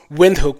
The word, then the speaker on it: Windhoek: So hence he's correcting us to pronounce windhoek with a V instead of a W.